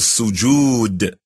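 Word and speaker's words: سجود: If your nose is not touching the floor, then this position of prostration called sujood.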